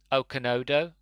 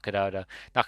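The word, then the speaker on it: Okonedo: Grant as the Doctor, Sophie Okonodo, I think that's how you pronounce the name, not Okadodo, whatever I said earlier, as Alison Cheney, Derek Jacobi as the Master, which absolutely perfect casting.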